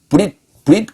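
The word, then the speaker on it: ברית: 그게 베리트인데, 베리트라는 단어가 있고 그 다음 단어가 베릿이에요. 우리말로 베릿. 그러니까 이것도 베릿으로 그 발음할 수 있죠. 베리트. 그런데 브릿 그렇게 돼요.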